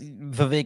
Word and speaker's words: Vivek: It's Vivek like cake.